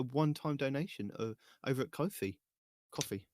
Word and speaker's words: Ko-fi: Coffee. It's coffee, isn't it? I always say it's Spelled with a Ko-fi.